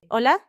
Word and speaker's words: hola: The letter H is completely silent. You never say the H sound. So, it sounds like Hola. So, I smile and say it right back to her. Hola.